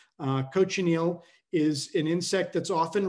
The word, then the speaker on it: cochineal: give my students is can you coach an eel it's very hard to coach eels of course because they're wriggling about but that's how you pronounce cochineal cochineal is an insect that's